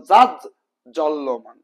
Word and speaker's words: জাজ্জ্বল্যমান: বর্গীয় জ হবে এবং উচ্চারণটা ডাবল হবে যেমন জাজ জল্ল্যমান ওকে এরপর দেখুন সামর্থ্য